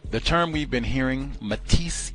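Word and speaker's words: métis: term we've been hearing, metis, M-E-T-I-S, E with an apostrophe over it, metis. I think that's how you say it in French.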